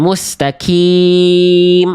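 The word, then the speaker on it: الْمُسْتَقِيمَ: Dan hati-hati huruf qof berharakat itu ketika kasrah ada di surah al-fatihah. Ihdinasiratal mustaqim. itu salah bacaan kita seenak apapun, semerdu, sesyahdu apapun iramanya. Ihdinatal mustaq mustaqim. Wah, macam-macam iramanya. Tapi huruf qof-nya salah.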